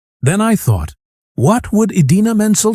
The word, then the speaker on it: Idina Menzel: Instead of saying Idina Menzel, he announced her as Adele Dazeem.